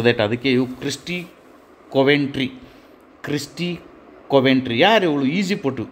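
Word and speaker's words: Coventry: ಕಟ್ ಮಾಡಿ ಹಾಕ್ತಾ ಇದ್ದೇನೆ okay next ತಗೊಳೋಣ Christie ಕಾಮವೆಂಟ್ರಿ Christie ಕಾಮೆಂಟ್ರಿ ಸ್ವಲ್ಪ ಉಚ್ಚಾರಣೆ ಆಗೋದಿಲ್ಲ ಇವು ಇವು ನಮ್ಮ ದೇಶದ ಕಲ್ಲವ ಮಲ್ಲವುಗಳಲ್ಲ ಸೋ ದಟ್ ಅದಕ್ಕೆ ಇವು ಕ್ರಿಸ್ಟಿ ಕೊವೆಂಟ್ರಿ ಕ್ರಿಸ್ಟಿ ಕೊವೆಂಟ್ರಿ ಯಾರ ಇವಳು ಈಜಿಪಟು ಈಜಿಪಟು ಇವಳು ಈಸುಗಾರ್ತಿ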